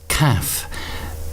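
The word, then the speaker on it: Kaph: The Hebrew association of this card is Kaf, which is spelled K-A-P-H, and Kaf essentially means the palm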